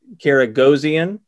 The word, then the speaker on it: Karagozian: collector convo series uh we have brandon uh karagozian did i pronounce that right brandon is that right we